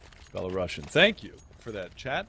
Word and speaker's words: Belarusian: be at a 1-round deficit now to the Belarusian side. So somebody said it's the same as you spell Russian, just add Bella, so it's Belarusian. Belarusian.